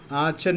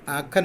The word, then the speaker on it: Aachen: मुझे और बड़ी दीदी को आचन में रहने के लिए भेजा. कुछ लोग उसको आचन पढ़ता है, इसका ओरिजिनल प्रोनाउंसिएशन आखन है, कुछ लोग उसको आचन भी कहते हैं.